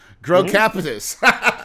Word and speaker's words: Grocapitus: Well, just like it's spelled, Grocapitus, a commercial real estate investment company.